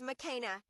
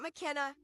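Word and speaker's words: Makena: It is pronounced McKa. Not McKenna, not Mckina, but Mcka. Look in the front of the book and it'll tell you.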